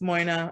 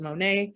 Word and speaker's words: Moina: Technically, my name is pronounced Moina. I go as Monet.